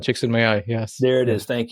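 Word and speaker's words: Csikszentmihalyi: I always mispronounce Mihail. It's like Chicks in My Eye.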